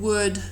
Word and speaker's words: would: to help you memorize that the L is never pronounced in the sequence O-U-L-D.